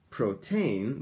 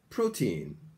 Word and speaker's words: protein: protein this year not protein but protein pro protein here is the pronunciation uh protein okay not protein but teen protein neon said today uh